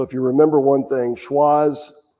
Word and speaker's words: Schwazze: you remember one thing schwarz rhymes with the wizard of oz so if you take